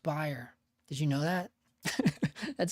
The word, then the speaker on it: Bayer: Did you guys know it's pronounced buyer? It looks like it's pronounced Bayer. It's actually pronounced buyer.